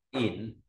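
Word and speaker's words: 廴: Tiếp theo là có bộ dẫn nói về bước dài, đọc là ỉn.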